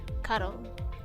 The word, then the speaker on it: Charon: The H is silent. Charon.